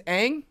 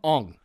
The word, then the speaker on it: Aang: all the characters right yeah all the characters pronounce their names wrong his name is saka he says sokka his name's aang oh that's dope i actually really like that they call him ong and i want to shoot myself in the